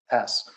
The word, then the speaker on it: SaaS: There's no silent P in that acronym, but there's a hidden S. So software as a service, SaaS.